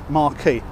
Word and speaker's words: Marquis: desk its JW Marriott Marquis although spelt Marc Chris now Marquis is the French pronunciation of Marquess which means no woman